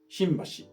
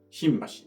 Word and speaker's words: 新橋: 東京の地名の新橋の運は英語の M に似ている音です。だから英語表記が新橋ですね。